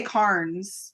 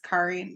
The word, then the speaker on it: Cairns: wanted to say Carnes, but it's Cairns. Yeah, it's Cairns.